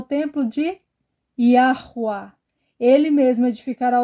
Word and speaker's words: יהוה: atenção dias virão diz não é ya não é abreviado tem uma pronúncia essas quatro letras em hebraico yahua está na descrição o